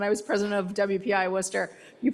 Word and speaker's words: Worcester: Prior to leading JPL, Leshin was president of Worcester Polytechnic Institute, served as Rensselaer Polytechnic Institute School of Science dean, and held senior executive positions at NASA.